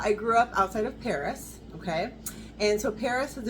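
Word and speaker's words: Perris: It's actually Paris, California. I was like, where are you fitting? It's Paris, California, so it's spelled P-E-R-R-I-S.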